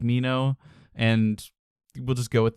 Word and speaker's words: Minho: do realize that uh Leno pronounces his name Mino and not Minho which is what I've been saying this whole time right so feel like